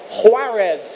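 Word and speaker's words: Juárez: is the president of huarez and I'm told that that has a very firm H in the pronunciation how was the pronunciation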